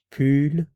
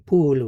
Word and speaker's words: pull: un pull un pull, be sure to round your lips here when you're pronouncing this. Pull, and pull. If you don't round your lips, you might end up saying pool, which is a chicken or a hen, so be careful with that.